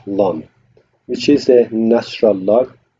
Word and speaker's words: ln: on it yeah and next one is Ln or we pronounce it long which is a natural